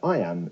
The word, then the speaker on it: iamb: it means the word I am is pronounced just like the phrase I am now let's expand that